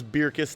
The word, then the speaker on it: Bircus: i met a guy in 2010 from ghent belgium his name is matthias and hebrews beer kiss to that's the flemish pronunciation but i never correct